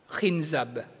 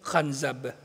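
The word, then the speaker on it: خنزب: sa kanilang sala ay tinatawag na hinz o khab sa ibang pronunciation Pero dito sa Arabic ng libro ni sheikh Omar Al ashkar tinatawag itong khab isang demonyo na gumugulo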